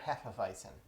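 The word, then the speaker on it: Hefeweizen: heffavicin all right and i know that's not the german way to pronounce a bison but i'm not going to try to pronounce it correctly because i'll do it wrong that's just how we that's how we say it here uh that being said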